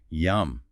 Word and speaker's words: yam: The specific seed mantra, the sound for the Anahata chakra, is yam, pronounced like yum.